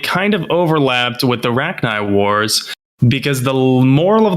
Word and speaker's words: Rachni: Is that the proper pronunciation? Rachni? Rachni.